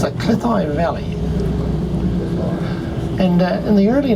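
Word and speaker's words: Cleddau: a little sign on the bridge that spelled C-L-E-D-D-A-U, and the people from Wales tell me that you should pronounce D-D as T-H and the A-U as I. There it goes there now.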